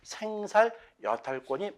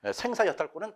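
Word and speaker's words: 생살여탈권: 어 이것이 어 생사 또는 생살. 근데이 발음이 제가 볼 때도 그 생보다는 생사야권이 많이 익숙해요. 하지만 원래는 죽고 살리는 죽일 살자죠. 어 그래서 생살 여탈권이 맞는 표현이다.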